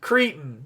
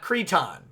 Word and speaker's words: cretin: put on a salad it's cretin not cretan i don't know how